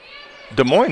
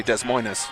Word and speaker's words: Des Moines: a lot of putbacks des moines is a tricky pronunciation too i'm pretty proud of that one well when i'm being a jerk face i say des moines but i understand that that's wrong all right grand view